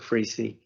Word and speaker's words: Freese: Freese is the alternate. I believe you pronounce his name Freese, Clark Freese.